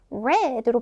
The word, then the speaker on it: read: 별 표해 주세요 자 우리가 읽다라고 현재형으로 이야기할 때는 발음을 read라고 하죠 자 그런데이 단어를 읽었어요 읽었다 하고 지난 일을 말할 때는요 모양은 똑같아요 자 그런데 발음이 뭐라고요 모양은 똑같은데 발음이 왜 뭐라고요 모양은 똑같아요 읽는다라고 현재로 말할 때는 근데 읽었다라고 지낸 일을 말할 때 과거로 쓸 때는요 우리가 발음합니다 모양은 똑같지만 지난 과거 이야기할 때는 red로 발음한다라는 거 꼭 기억해야 합니다 힛치다